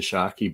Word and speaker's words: Tscharke: The silent T kind of gets everybody, and it's from the